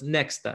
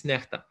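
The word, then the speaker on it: NEXTA: uh that is called necta in belarusian that stands for something uh often mispronounced as next it's not next it's necta so before the day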